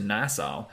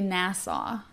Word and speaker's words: Nassau: then he he and his family moved to nasau um where he experienced like electricity cars and